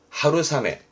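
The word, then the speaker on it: 春雨: 발음은 하루사메.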